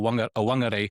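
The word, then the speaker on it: Whangārei: So like wat like some people would call it wakatan and other called it fakatan or fun or wangare are both acceptable depending on the tribe you're from.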